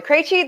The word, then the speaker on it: Krejci: So, Martha Krejci, that is how you pronounce all of those consonants really close together.